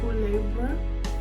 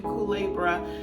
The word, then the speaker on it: Culebra: Culebra, I believe is how it's pronounced, but it's a beautiful island.